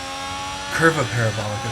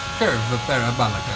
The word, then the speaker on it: Curva Parabolica: Curva Parabolica, sir. Well, Gotta say it right. they just call it that. Curva Parabolica.